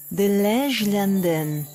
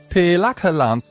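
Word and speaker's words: De Lage Landen: For many years, we were known as De Lagerlande, a name that was hard to pronounce to anyone but the Dutch. De Lagerlanden? De Lagerlanden. De Lagerlanden.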